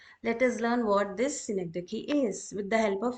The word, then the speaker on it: synecdoche: Its pronunciation is synecdoche.